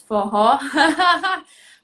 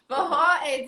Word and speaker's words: Forró: Forró. Forró, this is one of the words that you pronounce it with like an H.